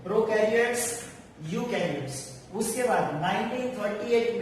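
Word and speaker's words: eukaryotes: एक है प्रोकैरियोट्स और दूसरा है यूकैरियोट्स। प्रोकैरियोट्स एंड यूकैरियोट्स। Okay, यहाँ पे ई जो है वो साइलेंट है।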